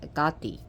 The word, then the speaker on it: Hecate: but night dwelling deity like Hecate which is pronounced agathi still people pay attention